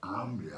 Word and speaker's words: hambre: And so you go, oh, it's not hombre, it's hambre, hambre. I don't know what hambre means. And so you repeat, you go, hambre. Now you say it correctly, right, with the ah.